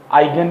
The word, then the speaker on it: Huygens: आइगन principal, H silent, आइगन, ठीक है?